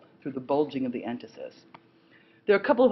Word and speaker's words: entasis: middle you'll see the word written but I'll spell it for you right now it's called ant Isis en ta sis and that has to do